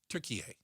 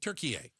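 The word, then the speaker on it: Türkiye: Turkey a. Do you pronounce a turkey? Turkey a like turkey with an a on the end.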